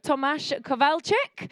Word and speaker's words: Tomasz Kowalczyk: So please welcome to the stage, first of all, I have Tomasz Kowalczyk. I've been told is the pronunciation, Federico Smanio, Rohn Malhotra, and your moderator for this panel is Cordoba.